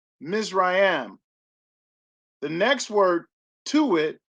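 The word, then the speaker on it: מִצְרַיִם: h4714 the first word next to it is pronounced misrayam the next word to it is dual spell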